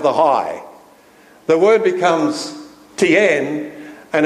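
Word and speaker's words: 天: TN any Chinese people here today am i pronouncing this right it's not TN that's how the Australians would say it's tian and zhang d is another name for TN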